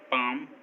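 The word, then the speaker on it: palm: एम से पहले, काम, बाम, पाम, आमंड, इन सभी वर्ड्स में एम से पहले एल आया है और एम से पहले एल हमेशा साइलेंट होता है।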